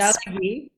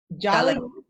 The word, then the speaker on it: Tsalagi: It's Jalagi. Jalagi. Jalagi underscore PhD underscore almost. And that's spelled TSALAGI, which is the Cherokee pronunciation for Cherokee.